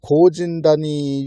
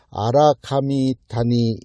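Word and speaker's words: 荒神谷: 중요한 유적이 발견이 됐는데 그게에 바로 고진이 유적이라고 하는 건데 원래 발음은 아라카미 타니 유적 이렇게 발음한게 맞고요 아라가야 사람들을 신으로 본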